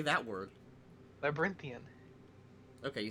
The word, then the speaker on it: Labyrinthian: Labyrinthian.